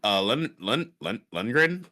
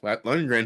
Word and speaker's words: Lundgren: Also, a fun fact is there's a cameo in this film by Dolph Lundgren. Is that how you say his name? Lundgren, who did play He-Man in that Yes.